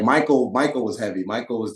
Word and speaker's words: Mikal: know like I'm Bridges so it's pronounced Michael like the eyes like kind of like an ace was like Mikel but um substitution Bridges